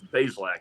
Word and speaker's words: Bazelak: And he said, "Well, they've been mispronouncing it for years. Bazelak, it's like 2 syllables."